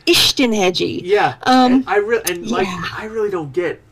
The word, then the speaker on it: Istenhegyi: He does it, I write it phonetically so that you can pronounce Istenhegyi.